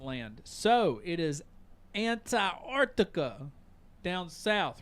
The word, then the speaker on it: Antarctica: That's how you say it. Not anti. It's Antarctica.